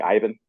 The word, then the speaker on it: Iban: I I had grown up my whole life, everybody calling me Ivan or Ivine at the house because everybody spoke Spanish, but it was like traditionally spelled with the B.